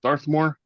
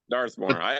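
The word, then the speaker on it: Dathomir: Is it Doramir? How do you pronounce it? Darthmore. Darthmore.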